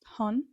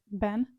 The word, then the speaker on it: 本: I know that in Japanese it means book and it's pronounced Han, but I think that in Chinese it means origin, I think. and it's pronounced like Ben, but I don't know.